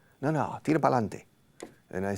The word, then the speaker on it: pa'lante: But Spanish people say pa'lante, 3. So you Spanish people reduce a word or an expression, 2 words, para adelante. You from 6 syllables, you reduce it to 3.